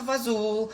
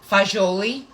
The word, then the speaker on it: fagioli: Lila, you could pronounce it pasta fazool. That's what I call it. I hate saying fazool, Lila. Fagioli.